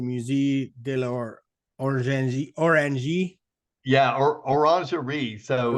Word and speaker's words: Orangerie: Yeah, or orangerie. So it's Orangerie, sorry. basically the word orange and then add RIE. Yeah. But the Okay. French pronunciation is orangerie.